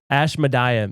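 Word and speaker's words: Ashmedai: Ash Madia. That's probably how you say it.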